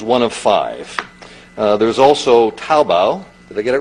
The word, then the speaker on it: Taobao: well Alibaba is one of five there's also taobao they get it right that they're pronounced it correctly okay I've been practicing the last five minutes taobao which is basic have the combination of imagine